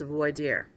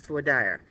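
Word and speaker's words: voir dire: there is a process and it's known as avoid ear well or it can be pronounced for dire I've heard it said so many different ways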